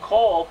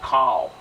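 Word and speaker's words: כָּל: But a kametz hatuf transforms to an O sound. That's how we get the Hebrew word kol. And most people, when they start learning Hebrew, they'll pronounce it kal.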